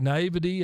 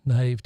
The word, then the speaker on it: naive: the last salable you can n it's like naivity and no it's naive I was corrected by guy no it's correct pronouncing it's naive yeah I used to call